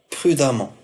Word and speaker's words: prudemment: par M m NT prudemment prudemment e m il se prononce am prononciation prudemment l'adjectif conforme